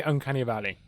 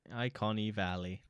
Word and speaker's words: Uncanny Valley: The only thing is, it looks very Uncanny Valley.